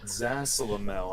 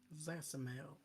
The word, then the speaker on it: Zasalamel: How do you spell that name? Zasamel. Zasalamel. Zasalamel. Zasalamel. Now you're saying it like it's a Pokemon name.